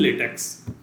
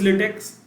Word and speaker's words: LaTeX: can write documents in LaTeX. Firstly, we have to understand what is LaTeX and what are its applications. So LaTeX, if you pronounce it, it is a lay and then tech.